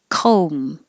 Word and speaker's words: comb: cafe cafe brochure brochure comb it's just an o no b because you're closing your lips for the m anyway that's it com